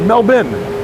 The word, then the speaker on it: Melbourne: way also kristen yeah we pronounced it mel bin over here and ivan bund finn